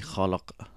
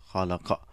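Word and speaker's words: خلق: So iqra bismi rabbikal ladhi khalaq. So we say khalaq, but it is actually khalaqa. So if you pronounce it completely.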